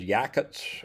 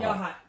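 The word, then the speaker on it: Yachats: This is Yakuts, Oregon. I think I'm pronouncing that right. Yaha. Yah. Yahhat. Yahhat. Okay. Yahhat.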